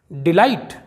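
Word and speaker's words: delight: Silent है और यहाँ पर दोस्तों K भी साइलेंट है, जो हम पहले पढ़ चुके हैं। ब्राइट, इसका मतलब होता है चमकीला। डिलाइट, इसका मतलब होता है आनंद।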